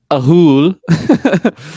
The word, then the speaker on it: Ahool: I don't know if there's a wrong way to say it because it's kind of the noise of what it makes. It's pronounced the Ahool.